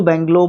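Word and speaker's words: bungalow: सही लगता था बैंगलो लेकिन बंगलो इस तरीके से कुछ इसको प्रोनाउंस किया जाता है कैरी आउट अ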